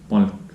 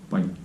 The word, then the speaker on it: palk: If you just randomly say, let's say this Palk, Palk. palk, Palk. so soft. Palk.